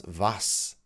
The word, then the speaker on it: was: German at this time was that some of my fellow students couldn't remember how to pronounce vas. They would say for example was maxu. It's difficult for me to say was makdu.